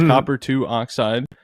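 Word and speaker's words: copper(II) oxide: It's copper 2 oxide. And yes, that is how you pronounce that. You do pronounce the 2. I'm pretty sure.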